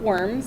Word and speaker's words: Worms: And that's why you have, of course, this Diet of Worms. It's not worms, it's pronounced Worms, W as a V.